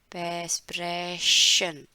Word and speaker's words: sprechen: ठीक है, इसका प्रोनाउंसिएशन लिख देती हूँ, स्प्रे, स्प्रे, स्प्रे, स्प्रेशन, स्प्रेशन, स्प्रेशन।